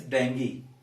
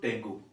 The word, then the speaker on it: dengue: is uh this word so it is dengue it is not tango and it is not our mistake because most of us read hindi newspapers where it is written dangu it is not tango it is actually dengue so remember this is not dengue this is dengue the disease that you